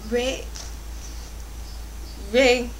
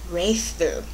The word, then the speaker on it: Wraeththu: You can't even pronounce the title without looking it up on Wikipedia, which I did. And I think it's Wraith Boo.